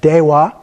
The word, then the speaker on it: Dewa: So the first one is Dewa. So you can see the E is pronounced like an A, and the A is pronounced like an A. So we have Dewa.